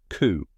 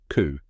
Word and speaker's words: coup: Coup. That's right. Even though it looks like it should have a P sound at the end, the P is completely silent. Let's say it together. Coup.